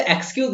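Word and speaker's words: excuse: एक्सक्यूज, अब देखो ये एक्सक्यूज है ना, इसकी स्टार्टिंग आप एक्स से करना, ई से नहीं करना। ठीक है, ई इज a silent letter here.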